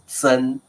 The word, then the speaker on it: 曾: 那你不要念成曾祖母，No, it's not like 曾，it's 曾，because it is a 多音字。OK，曾祖母。How about 曾孙？